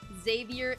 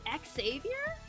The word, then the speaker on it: Xavier: enjoyed you know so the only way i' I've seen Xavier pronounced is Xavier and exsavior really you guys I've met at least one person who spells it with an X and pronounces it like Javier also I think I